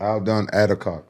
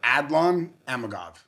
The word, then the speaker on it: Adlan Amagov: Aldon Adakov. No, no, no. Adlan Amagov. Okay. Mhm. You spell it.